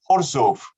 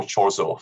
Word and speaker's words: Chorzów: of the factory at Chorzów. Obviously, we all pronounce it in correct Polish terms, no Chorzów for us, and something that has